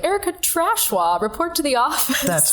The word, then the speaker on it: Tachoir: So Tachoir. Tachoir, the snooty French pronunciation.